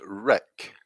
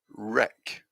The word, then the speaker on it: wreck: can see yes that the w is silent and so pronunciation is wreck wreck so we can see